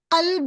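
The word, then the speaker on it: قلب: the singular heart कलबुन cough cough is the heavy letter heavily we have to pronounce कलब okay कुलूब is plural horse अगर मैं कलब को जाकर कलब पढ़ दूं कलब तो क्या मीनिंग होता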